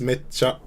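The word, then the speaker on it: めっちゃ: That's what the double consonant is. Yeah. Is a bit of a pause basically. So instead of mecha, it's mecha.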